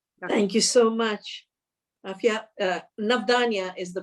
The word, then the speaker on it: Navdanya: Navdanya is the pronunciation, and it means both 9 seeds for